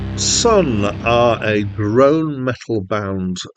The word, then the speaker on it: Sunn: so I had to look up how to pronounce them the name of the band and it is just Sun they released their first album in 2000 and